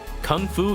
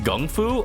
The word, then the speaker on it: kung fu: cool there blade yeah an example of mispronunciation from Chinese is actually that kung fu is actually pronounced Gung FU oh really huh is